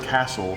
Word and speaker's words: castle: When you say the word castle, the T is silent.